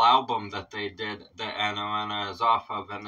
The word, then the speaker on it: Anoana: This is another song from Heilung Anoana, is what this is. I believe that's how that's pronounced, is Anoana.